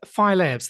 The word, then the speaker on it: Phi Labs: of today's show let's start then uh with phylabs that's how you say it isn't it phylabs